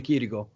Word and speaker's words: Chirico: No, CH is pronounced K in Italian, and C is pronounced Ch. So Alessio Di Chirico.